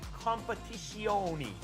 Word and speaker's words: Competizione: ACC, I forgot the, Assetto Corsa Competizione. You have to say it like that. Competizione. It's Yiddish. No, it's not. It's Italian.